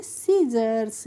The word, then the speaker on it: scissors: तो SCISSORS को हम पढ़ेंगे सीजर्स, क्या पढ़ते हैं, सीजर्स पढ़ते हैं।